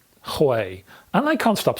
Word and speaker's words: Huei: were you called anyway I think you pronounce this Hawaii and I can't stop